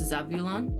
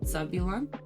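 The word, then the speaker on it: Zavulon: It's spelled Z A V U L O N, but I'm pretty sure it's Zabulon with like a kind of a softer B. Oh, Zabulon.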